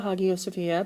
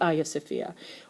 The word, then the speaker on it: Hagia Sophia: You can call it the Hagia Sophia. That's fine. They're both correct. I just pronounce it the Hagia Sophia.